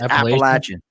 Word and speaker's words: Appalachian: me about appalachian but that's the way you actually pronounce that that tim it's appalachian the appalachians appalachia appalachian mountains bro huh i hate the